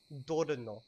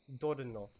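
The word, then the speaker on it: dorno: So the word for thorn is Dorino. Dorino. Okay. So it's spelled D-O-R-N-O. Dorino.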